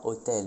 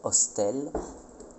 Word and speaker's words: hostel: prononçait surtout les S, donc on disait pas forêt mais forest, pas hôtel mais hostel, pas bâton mais baston, et pas côte mais costé.